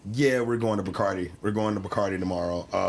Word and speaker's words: Bacardi: and we went to Bacardi. Yeah, that's how they say it.